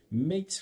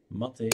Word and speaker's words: MATE: four point one ma time I'll probably say makes from time to time so with me I always mean mater that's the proper pronunciation but it's hardwired in my brain nothing